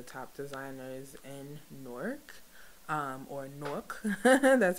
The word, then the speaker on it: Newark: some of the top designers in Newark or Nook that's how you say it um and we